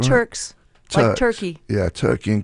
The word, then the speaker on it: Turks: so so then you came back from uh Kirks and takos is that did I say it wrong Turks tur turkey yeah turkey and kakei you came